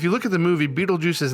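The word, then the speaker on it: Betelgeuse: and who do we have we've got it's beetlejuice that's funny so this is the first one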